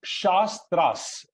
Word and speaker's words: shastras: r a right so whenever we use a vowel with capital letter it means it has to be pronounced long right so shastras right so that's a